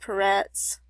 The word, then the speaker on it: Peretz: And over here you see that it's pronounced Peretz.